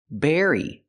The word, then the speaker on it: berry: The B makes a closed sound, berry, and the V makes a vibration sound, very. But the rest of the word is exactly the same.